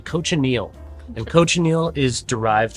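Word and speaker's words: cochineal: how to pronounce it I've been saying it wrong for years cocal really close I always said cocal but it's actually coach Anil and Coach Anil is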